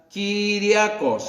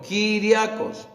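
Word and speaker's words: κυριακός: En el griego significa o se pronuncia Kyriakos, con K de kilo, Kyriakos, da la idea de pertenencia.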